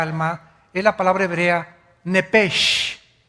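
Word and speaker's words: נפש: es la palabra hebrea nepes así como suena n e p e s h nepes la palabra la letra o las letras sh en el hebreo se pronuncian en hebreo como J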